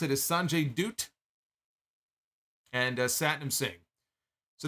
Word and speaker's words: Sanjay Dutt: Jarrett Jay Lethal uh Sanjay dutt who he pronounced it is Sanjay dutt and uh satinum Singh so they made their